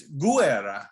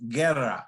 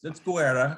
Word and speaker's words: Guerra: In California, the Spanish pronunciation of Guerra, that's how the Spanish would pronounce it, which is fine, but it happens to be Italian, and in Italy, it's Gu-air-rah. Each vowel gets pronounced in Italian, whereas blended in Spanish, and so.